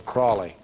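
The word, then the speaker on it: Aleister Crowley: named Alistar Crowley uh he likeed to be called holy or Crowley because it rhyme with holy but his real name is aliser Crawley he was born in 1875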